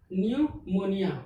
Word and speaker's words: pneumonia: है न्यूमोनिया, क्या लिखा, न्यूमोनिया, PNEUMONIA। इसमें क्या हुआ, पी कहाँ आया, एन से पहले आया। रूल्स में क्या, एन एस और टी से पहले अगर पी आएगा तो पी क्या हो जाएगा, साइलेंट।